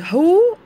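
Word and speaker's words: who: بيشتغل ايه، فهقول ايه هو، وبكتب بعديها ام او از او ار، زي ما اتفقنا هنا هو ما بنطقش ال W وبنطق ال H O بس، هو بس طبعا لازم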